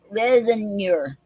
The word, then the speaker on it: raisonneur: Resinor. It's spelled Raisonneur.